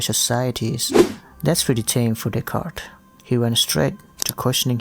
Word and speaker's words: Descartes: Yes, it is pronounced as Descartes, even though the spelling is weird because, you know, it's French.